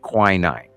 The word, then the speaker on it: quinine: QUININE. Quinine. Oh wow. I'm like the walking. The Brits call it quinine, something like that.